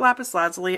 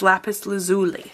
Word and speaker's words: lapis lazuli: And then, it's not lapis lazuli. I get screwed on this every time. It's lapis lazuli.